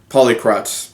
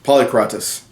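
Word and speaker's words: Polycrates: the Tyrant of Samos polycrotz polycratis I wasn't pronouncing that correctly so he came in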